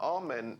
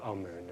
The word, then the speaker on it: Amun: important deities was amen now amen is the pronunciation that the Hebrews give it and some Scholars agree to use that pronunciation amoon is the pronunciation given to it by one of the old European scholars plutar in the language of K the word for hidden is IM or Amun is the way that we U put it in